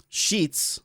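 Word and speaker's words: Sheetz: Sheets. We're good. S H E T Z. Got it. Is it how it's spelled?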